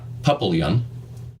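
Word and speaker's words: Papillion: unfortunately pronounced uh uh papalian uh Nebraska not the French pronunciation unfortunately but uh uh Papillon but uh hey it's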